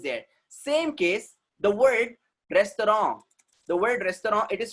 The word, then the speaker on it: restaurant: उसको restaurant बोलना है हम लोगों को, restaurants नहीं बोलेंगे. It is what? Restaurant, not restaurants. Why? Because it's a French origin word.